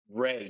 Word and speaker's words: Rea: should have asked you that before we started Ray Ray so I sound like a country singer who just got a D why Ray Ray Ray like it all sounds